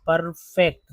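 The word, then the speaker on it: perfect: ई बोल रहे हैं अगर लिखते पी ई आर परफेक्ट परफेक्ट देखिए दो ई लिखा मैंने तो पहला ई जो है अ के रूप पी आर पर अर यानी अ दूसरा ई जो है वो ए के रूप में उचा यानी फेक फेक परफेक्ट सर्कल का ई जो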